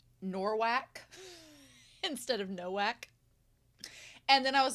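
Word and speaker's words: Nowak: I know that I meant Noak. I said Norwac, I think because it sounds like narwhals.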